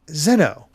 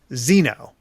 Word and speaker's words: Xeno: Japanese, trailers and all whatnot always say Zeno. Yep. But the English, the American, translated versions that we always have say Xeno. So I'm technically right too. I'm just going by the Japanese pronunciation.